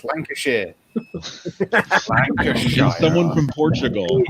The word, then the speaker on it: Lancashire: there was a person from Lancashire and there was someone from Don't Lancashire. say it like that. It's Lancashire.